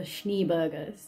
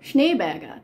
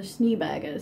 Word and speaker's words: Schneeberger: this town lived a lovely family called the schneebergers now i did look this up because holland being located next to germany my brain was thinking isn't this pronounced schneerberger but i looked up and they called themselves